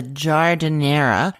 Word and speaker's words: giardiniera: And then the other classic part of this sandwich is the giardiniera. Now, if you don't know what I'm saying, it's because it's not spelled the way that it is pronounced.